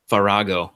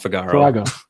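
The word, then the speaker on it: Farage: Well, I can't even pronounce the damn name. Figaro or what the hell is it? Farago, not Figaro.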